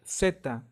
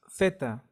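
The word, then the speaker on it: zeta: now Z Sounds like seta seta as in a sun this pronunciation is mostly used in Latin America and southern Spain in Northern and Central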